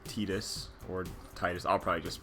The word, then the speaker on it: Tidus: So our protagonist, or protagonist, his name is, I've always said Tidus. I know officially it is Tidus. That's how they pronounce it in Dissidia, other Final Fantasy games that actually speak his name, which makes this one unique.